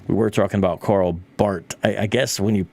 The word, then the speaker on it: Bart: I I've heard it Bart, so there's a little bit extra at the T. So, it's Bart, like Bart Simpson. It's Bart.